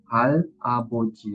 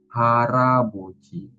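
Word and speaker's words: 할아버지: Hal aboji ya, Robun. Maka bukan hal aboci dibacanya, tapi siilnya ini mengisi bagian vokal yang ada di sini. Jadi di sini dibacanya bukan hal aboji, tapi harabi. Haraboji.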